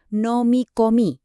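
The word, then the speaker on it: 飲み: Nomi dibaca nomi artinya menelan.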